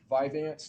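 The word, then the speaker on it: Vyvanse: Um, Viveance, is that how you pronounce it?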